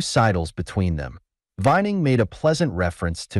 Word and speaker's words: Vuyning: "It's pronounced Vuyning," he said, as he tossed it over to the other, "and I'll be as frank with you.